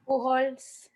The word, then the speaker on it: Pujols: Pujols. Thank you. Yeah. Thank The J is silent. Yeah, I wasn't sure because I've heard two different ways.